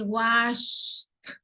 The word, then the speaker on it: wash: Todo lo que ustedes vean con la SH se pronuncia como sh. Así como que cuando callamos a un niño.